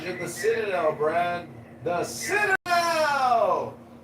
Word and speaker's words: Citadel: The Citadel. The Citadel. Oh, that's how you say it, Brad.